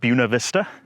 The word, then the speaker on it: Buena Vista: it's Buena Vista Virginia I would pronounce it Buena Vista but the locals call it Buena Vista and then that's looking